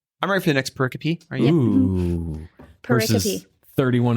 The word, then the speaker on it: pericope: I'm ready for the next pericope. Are you? Ooh. Verses 31 and 32. Hey, I said a word. She pronounced it right.